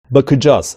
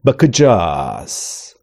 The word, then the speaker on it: bakacağız: Burada da bakacağız şeklinde telaffuz edilmesi gerekirken bakacağız gibi garip bir tonlamayla, vurguyla bir telaffuz duyuyoruz.